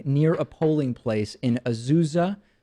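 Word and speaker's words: Azusa: a polling place in azuza or ausa I think is the right way to pronounce it California the LA County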